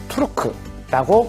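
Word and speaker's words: Türk: 터키는 현지 발음으로는 투르크라고 부릅니다.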